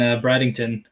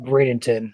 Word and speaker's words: Bradenton: It's pronounced Bradenton or Bradenton, Caleb. It's not Bradenton.